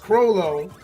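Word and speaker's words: Chrollo: So his name is pronounced Crollo, and it's from Hunter x Hunter. Ah, okay. Gotcha. Yeah, Crollo makes more sense.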